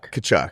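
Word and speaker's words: Tkachuk: Kachuk.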